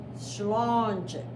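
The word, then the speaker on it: sláinte: Health cheers or health and this word is pronounced slanging so it's slow too so you have to raise your hand up in the air we have to do Solange there you go excellent so now you can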